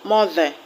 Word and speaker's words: mother: For example, if you have the word mother, mother, the ER in mother is pronounced is a short sound. So the stress will be on the first syllable, mo.